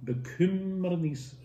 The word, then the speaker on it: Bekümmernis: Hatte, real double T, Bekümmernis, real double M.